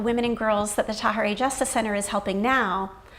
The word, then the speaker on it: Tahirih: And for those of you who are wondering kind of how to pronounce that, just imagine saying hooray with a ta. And then Tahirih.